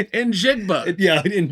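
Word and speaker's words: Njigba: In Jigba.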